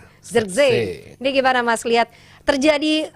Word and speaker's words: Zirkzee: Makanya kita tanya, ini proses terjadinya gol Gimana bacanya? Zirkzee. Bukan kata Justin. Zirkzee. Zirkzee.